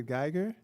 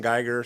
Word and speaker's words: Geiger: yeah but i'm gonna try to say geiger okay i'm trying here okay good good evening everybody thank you for taking the time to listen to us um my name is geiger spelled g-e-i-g-e-r so you pronounced it perfect uh